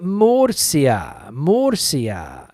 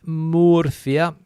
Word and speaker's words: Murcia: the S sound, but it's the foreigners that have trouble with Murcia, like the Mersey River, Murcia.